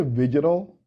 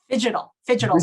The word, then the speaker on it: Phygital: Did you say Vigital? Phygital. So it's a made-up word, so this is how I spell it. Phygital, right? So the combination of physical and digital.